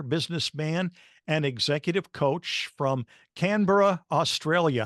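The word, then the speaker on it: Canberra: Catholic speaker author businessman and executive coach from canura Australia how did I do in the pronunciation that was pretty close I I will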